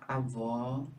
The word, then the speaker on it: avó: O agudo representa o som aberto como aó, não é? E o circunflexo representa o som fechado, como é o caso do avô. Olha lá, avó.